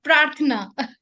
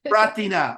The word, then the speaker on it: Prarthana: Am I pronouncing that right, Greshma? Kind of, Prarthana. Prarthana, okay, Prarthana.